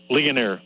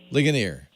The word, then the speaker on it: Ligonier: How do you pronounce that? Hello, Leo. It's Ligonier. Ligonier.